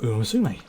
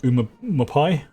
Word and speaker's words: Umamusume: I must really love Umamusume.